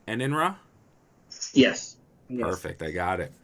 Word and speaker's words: Enenra: Enenra? Yes. Perfect. I got it. Woohoo! I hope I'm pronouncing it right because it's actually Japanese in origin.